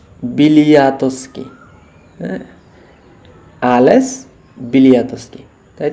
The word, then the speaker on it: Bialiatski: তো আমরা যে অ্যালেস কী নাম বললাম আমরা যেন, না বিলাতি না বিলিয়াতস্কি, হ্যাঁ অ্যালেস বিলিয়াতস্কি, তাই তো অ্যালেস বিলিয়াতস্কি।